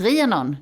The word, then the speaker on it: Rhiannon: So the tall guy came and he says, no, that's not her name. Her name is Rhiannon. You should pronounce it like that.